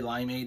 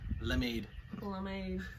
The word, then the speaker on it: limeade: it in the dictionary how do you pronounce limeade lemade oh yeah that's what it is it got like what